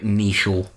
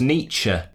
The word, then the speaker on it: Nietzsche: he's a philosopher Frederic neechal I think it's pronounced Nietzsche [